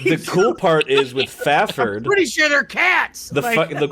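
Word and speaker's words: Fafhrd: cool part is with fafford pretty sure they're cats the cool part is with within with fafford in dialogue in the book he actually says pronounce faff ERD like yeah it gives the spelling so many like the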